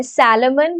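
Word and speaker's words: Salomon: सैलेमन versus सैलेमन versus सैलेमन and company limited. सलमान Khan मत लिख देना।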